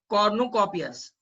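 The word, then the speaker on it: cornucopia: इन the window candy, peppermint sticks and कॉर्नुकोपियस। यहाँ पे मैंने, जो लोग को गुजराती हिंदी आता है ऐसा लिखा है इसका प्रोनाउंसिएशन, कॉर्नुकोपिया।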